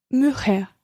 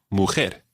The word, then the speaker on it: mujer: We tip here, all words that end in R in Spanish, virtually all words that end in R in Spanish, are stressed on the final syllable. So it wouldn't be mujer, but mujer. Mujer.